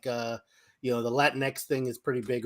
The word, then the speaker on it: Latinx: Because in our community, there's a lot of back and forth on whether or not Latinx is appropriate, this, that, and the other thing.